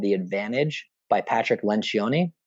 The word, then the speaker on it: Lencioni: The Advantage by Patrick Lencioni. It's about, you might pronounce it different if you speak it in like American or British English, but in Italian it's Lencioni.